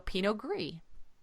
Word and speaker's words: Pinot Gris: s is the French word for gray so Pino gree right and just like greo is Italian for